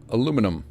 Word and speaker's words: Aluminum: Aluminum. See, we say it correctly.